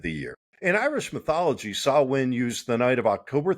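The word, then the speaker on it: Samhain: And it is not pronounced Sam Hayne, but rather Sawin.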